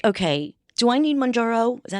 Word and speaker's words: Mounjaro: Where right now I'm like, okay, Do I need Mounjaro? Is that how you say it? Mounjaro.